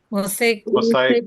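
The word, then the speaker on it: mosaicplasty: This, then yeah, microplasty. Yeah, this one has to be one second. What do How do you say that? Microplasty, right? Mosaic plasty, mosaic plasty, mosaic plasty, okay.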